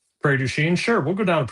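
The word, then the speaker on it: Prairie du Chien: Do you know how to pronounce the name of the 35 miles from Because you're from the area? Prairie. Prairie Duchene. Prairie Duchene. Yeah. Prairie Duchene. Like a city. Prairie Duchene.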